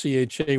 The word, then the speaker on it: Cei: And for those that might be out there on YouTube, spelt CEI, and but it's pronounced CHAY, and I have a